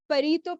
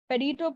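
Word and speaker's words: Pareto: would like to State a principle called the parito principle I don't know if you guys are like familiar with it or not it's spelled as p-a-r-e-t-o perito principle it stays there like 80 percent of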